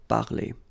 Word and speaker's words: parlé: And for the regular verbs like parler, it's quite easy, and phonetically it's the same. So j'ai parlé.